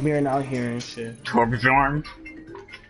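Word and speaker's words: Torbjörn: Torbjorn? It's Torbjorn.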